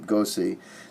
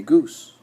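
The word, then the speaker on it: Goese: by the name of Mimi Gossi is how I pronounce her last name. I pronounce the name Gossi, though it might very well be that her name is Mimi Goose.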